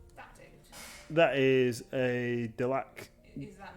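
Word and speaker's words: Delaque: Delac.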